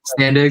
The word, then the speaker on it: Standig: Brother Ben Standig, from The Athletic. Standig. Yeah, Standig. Mm-hmm. Yeah, like it's not. Dude, it doesn't. Yeah, it doesn't sound how it's spelled, but yeah.